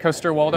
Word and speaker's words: Coster-Waldau: Macon, Blair, Evan Katz, Nick Coster-Waldau. Yes. Thank you so much for being here. Thanks Did for I pronounce having that us. right, Coster-Waldau?